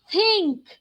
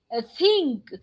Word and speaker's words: think: so check church then think think you know this is not pronounced correctly by indians most of the third world language speakers do not use do not use the correct way of saying we say thank you